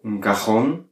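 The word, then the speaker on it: cajón: l'âme donc par exemple prenons le mot garonne garonne un tiroir il comporte un accent graphique sur le haut donc on va dire une personne on va accentuer la dernière syllabe ce qui est bizarre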